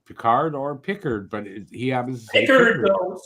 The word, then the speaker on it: Pickard: I don't know why I keep saying Peard.